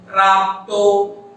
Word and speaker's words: प्राप्तो: दृष्टिप्राप्तो, और कीजिएगा, प्राप्तो इस शब्द में प और र वर्ण का संयोग है। प और र वर्ण के मध्य में कोई स्वर नहीं है, अतः ऐसे संयुक्त अक्षर जब आते हैं तब उच्चारण के सौविध्य के कारण पूर्ववर्ती जो स्वर है उसमें उस प्रथम हल वर्ण, प्रथम व्यंजन वर्ण को जोड़कर उच्चारण हम करते हैं।